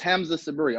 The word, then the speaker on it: Hamza Sabree: so forth and so on alright my name pronounced Hamza Sabri I'm from Atlanta Georgia was only six to